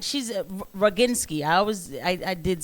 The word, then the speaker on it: Roginski: She's Roginski.